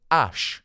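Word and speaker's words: Æ: Or you can also pronounce it Ash.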